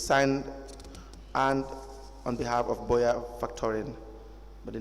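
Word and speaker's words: Boyer: Cel and Boya is it Boya F toin spell it I'm not familiar with that b o y e r Boya factoran yes the scope of the service is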